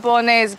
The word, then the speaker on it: bolognese: Spaghetti bolognese, but spaghetti bolognese, spaghetti bolognese, spaghetti bolognese. 한결 마음이 가벼워지죠. 볼로네즈의 영어식 발음은 bolognese입니다.